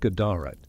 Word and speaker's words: GDRT: One ruler, King Gdrt, likely pronounced Gadarat, is mentioned in inscriptions in Yemen, evidence of Aksum's deep involvement in Arabian affairs.